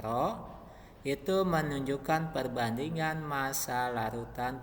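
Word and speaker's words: ρ: densitas atau rapat massa dengan simbolnya seperti ini ini dibacanya roh itu menunjukkan perbandingan massa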